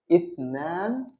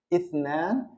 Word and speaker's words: اثنان: and of course, we're going to learn the pronunciation. So the next one is اثنان, اثنان.